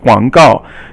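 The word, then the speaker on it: 广告: Guang is third tone, and gao is fourth tone. Guang gao.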